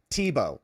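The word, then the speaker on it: Thibault: Arctic Frost case from Timothy Tibo. I think that's how you say his name. It's French.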